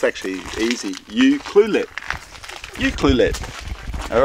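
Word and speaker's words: Ucluelet: yeah you cluet ulet oh it's actually easy U cluet you cluet all right here we go how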